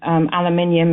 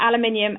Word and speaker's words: aluminium: stay absolutely away from aluminium as we pronounce yeah yeah yeahs aluminium and a Gulf War